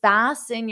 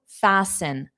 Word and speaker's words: fasten: To fasten, the T is silent. Fasten.